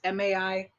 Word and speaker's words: Maika: And it all has to do, starting with the main character, Jay, played by, I want to say Maika Monroe. I'm not sure how you pronounce her name. It's Maika.